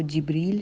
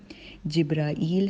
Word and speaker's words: जिब्रील: हम देखते हैं तो ये मुख्तलिफ़ तरीके से कहा जाता है और इसकी प्रोनाउंसिएशन जो है वो जिब्रील है, जिब्राईल है, जिब्राइल है और इसके अलावा इंग्लिश में गैब्रियल कहा जाता है।